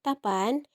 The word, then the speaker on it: tapan: is doing the action tapan that comes from the verb tavata. It means to meet. These words, you need to pronounce this correctly because the double p, tapan, it means to care.